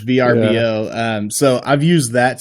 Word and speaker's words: VRBO: uh I don't know do you pronounce it verbo is it VRBO I hate verbo I'm a VRBO that makes sense that's how I say it is VRBO um so I've used